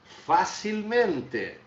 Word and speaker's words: facilmente: Mas vejam bem a minha pronúncia, facilmente. Ele não perde a tonicidade na penúltima. É apenas uma questão ortográfica, tá? Não vai alterar a minha pronúncia, não vai alterar a minha sílaba tônica.